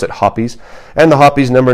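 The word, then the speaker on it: Hoppe's: nine gun cleaner at least I call it pronounce it hoppies and the hoppies number n lubricating oil some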